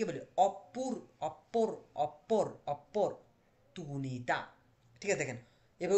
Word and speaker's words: opportunità: এটাকে আমরা ইতালিয়ান ভাষায় কি বলি, অপর অপর অপরচুনিতা। ঠিক আছে, দেখেন এবার উচ্চারণ করুন, অপর কি তুনিতা, অপরচুনিতা।